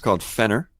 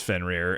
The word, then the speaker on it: Fenrir: It's Fenner. I'm telling you. How do you spell it? Spell it for me. I know how to spell it. Spell it. I know how to spell it. No, it's Fenrir. I'm not spelling it. Spell it. So it's spelled Fenrir. For those of you that don't know, it's Fenrir.